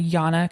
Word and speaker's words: Jana: of Love Madly by Jana Cassel. Jana is spelled like J A N A like Janna, but it's whatever culture or language does Jay's as wise.